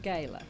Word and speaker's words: gala: We're we're going to talk about uh the big gala or would you would you say gay? Gala. Yes. Yes. We live in the south. It's pronounced gayla.